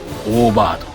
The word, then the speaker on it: 夜明曲: タイトルは夜明けの曲と書いてオーバード。